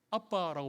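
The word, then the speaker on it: אבא: 이거 아람어인데 아빠라고 발음해요. 신기하죠?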